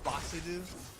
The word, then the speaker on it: Basil: about Basil is that his Japanese pronunciation is Basiru, or, Basil. But because his pun is based on the herb basil, I think when Funimation dubs it, they're probably going to call him Basil.